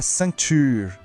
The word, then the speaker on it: ceinture: A palavra é la ceinture. Aqui temos outro som nasal, o an. A gente pronuncia como se fosse an, saindo pelo nariz. Vamos tentar? La ceinture, com o U de biquinho no final. Ture.